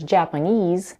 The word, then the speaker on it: Japanese: In the word Japanese, the last syllable, knees, has the primary stress. The first syllable, ja, has the secondary stress, and the second syllable, p, is unstressed.